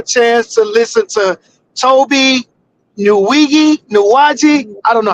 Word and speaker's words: Nwigwe: we got a chance to listen to Toby Nuwaji. I don't know how you pronounce his last name. Nuwaje. Pronounces it Nwigwe or something like that. Nuwaje, that's it.